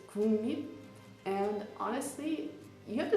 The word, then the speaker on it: 국립: For example, there's of course those Hangul words that don't have the same pronunciation as the Hangul has written. So for example, 국립, it's not 국립, it's 국립.